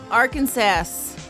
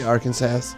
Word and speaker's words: Arkansas: Arkansas. Oh, I better say it right. Because there's a legal code in Arkansas that explains how the state's name should be correctly pronounced. Did you say Arkansas?